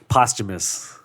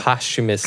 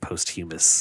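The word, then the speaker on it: posthumous: Supporting yes postum yeah postumus yeah postumus you're the second person I know who pronounced it post humus I probably would have said it wrong if Cody didn't say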